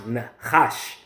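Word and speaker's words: נחש: Even when you go into this word serpent here in the Hebrew, that word is pronounced nechash.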